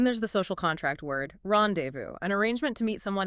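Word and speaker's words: rendezvous: Importantly, the final S is silent. So, how do we say it? It's often simplified in English to rendevu. The key to the British standard pronunciation is maintaining a soft flow and avoiding hard anglicized ziz sounds.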